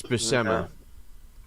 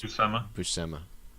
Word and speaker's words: Buscema: It's not Williamson, was it, Jace? It's Buscema. Is it Buscema? Yeah, that's what the phonetic pronunciation in Wiki is. Buscema.